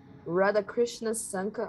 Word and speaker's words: Radhakrishna Sankar: Radhakrishna Sankar, I'm sorry for mispronouncing your name, wanted to know, I'm curious. You got it right.